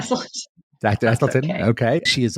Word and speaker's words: Esselstyn: Did I pronounce that right? Esselstyn.